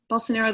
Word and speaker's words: Bolsonaro: How do you pronounce his name? It's Bolsonaro, the president of Brazil.